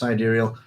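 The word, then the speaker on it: sidereal: clear um but anyway siderial time pronounced siderial is a system of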